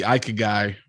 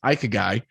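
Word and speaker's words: ikigai: we've talked about the ikea guy before i i actually figured out i've been pronouncing that wrong i used to call it guy it's ike guy and it's the japanese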